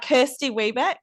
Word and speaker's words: Kirsty Webeck: Now, am I saying it right? Kirsty Webeck? Yes, you've nailed it.